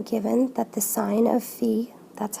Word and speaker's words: Phi: three-fourths here I'm given that the sine of Phi that's how you pronounce that is 5 13.